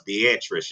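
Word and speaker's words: Beatriz: to form, you guys, I was calling it Beatrice, but I said I was going to get the pronunciation correctly, you guys, and it was Beatrice, you guys, and that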